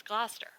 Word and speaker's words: Gloucester: So I was trying to get because my husband is from the East Coast, and he's like, it's Gloucester, and I'm like, it's Gloucestershire, it's Gloucester, it's Gloucester, it's Gloucestershire, and he's like, it's Gloucester.